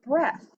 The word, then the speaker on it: breath: Same with lead, thread, bread, and breath. In all of those words, we would normally hear a long E sound because of our rule, but in these words, we have a short E sound.